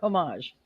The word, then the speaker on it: homage: My next one is it's a very is it homage or homage?